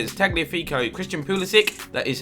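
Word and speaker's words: Kulusevski: in him and his tech me Rico Christian kulusuk that is how you say it Andre Gomes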